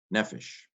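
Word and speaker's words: נֶפֶשׁ: Nun, segol, pei, segol, sheen, nefesh, another seglet.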